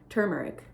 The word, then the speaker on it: turmeric: Turmeric, I don't know how to say it. Turmeric. Because it's T-U-R, tur.